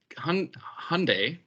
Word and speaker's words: Hyundai: It's Hyundai, like Sunday, apparently. So the way the Brits say it is completely wrong, and it irritates a lot of Koreans, as always.